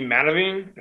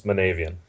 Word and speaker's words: Manavian: president of Hardline Curling, Archie Manaving. Sorry, I pronounced his last name wrong. What was his last name, Jerry? Lives Manavian. Manavian. So Archie Manavian.